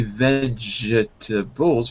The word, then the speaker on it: vegetables: You know, there are some words in English where we don't say all the syllables. Like, we don't say vegetables, we say vegetables.